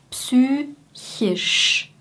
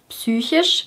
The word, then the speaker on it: psychisch: Psychisch, psychisch.